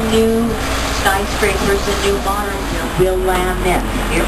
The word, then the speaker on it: Willamette: We've merged our old buildings from the 1890s, early 1900s with our brand new skyscrapers and new modern Willamette. It rhymes with Slamming.